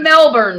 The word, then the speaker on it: Melbourne: You're in Melbourne, right?